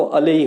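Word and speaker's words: allay: इसका जो प्रोनाउंसिएशन होगा वो अलई होगा।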